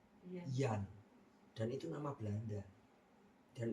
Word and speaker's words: Jan: Dalam bahasa Belanda, J itu pengucapannya bukan J, tapi Y, Jan, dan itu nama Belanda.